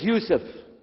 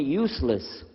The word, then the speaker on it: Yusuf: we'll work on itah my name is Yousef can you say Yousef you say Yousef yeah very good I wish youd teach my wife she keeps mispronouncing it she calls me useless alhamdulillah now how